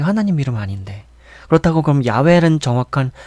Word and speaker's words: 야훼: 그러니까 야훼란 발음이 어떻게 보면은 좀 더 정확한 발음이라고도 할 수가 있겠죠.